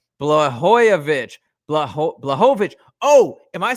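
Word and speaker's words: Błachowicz: Western says Blooyovic. Blah blah. Oh, am I saying it wrong? I thought I said I probably am. Dude, I pronounced I said Blhoyovich. It's Blovich. Okay, I apologize if I if I'm saying that wrong.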